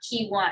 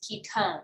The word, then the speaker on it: ketone: spell it o-m-e but it's not key one or keep one it's ketone so you pronounce it